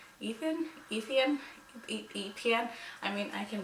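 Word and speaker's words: Étienne: But whenever they said like his name in this book, I'm like, Etienne? Etienne? I mean, I can probably Google it and see what the pronunciation is. So let's do that. Etienne. Etienne. Etienne.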